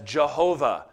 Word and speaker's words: Jehovah: Triune I am himself the Covenant name was probably pronounced Yahweh it's sometimes been vocalized as Jehovah as long as you